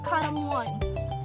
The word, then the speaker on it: Caramoan: Tama ba yung pronunciation ko? Karamuan or karamuan?